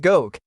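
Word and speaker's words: xok: A now disproven original research theory is that it derives from the Yucatec Maya word zuk, pronounced gok, meaning shark.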